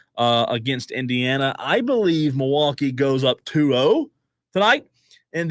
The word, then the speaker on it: Milwaukee: they are a good team Pacers bucks diesel Milwaukee is a one of the Half Point favorite I'll tell you this it's pronounced milwa which in Al gonin I like that better